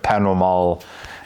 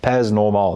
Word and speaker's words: Pas Normal: Pas normal, they're like, the S is silent, it's French.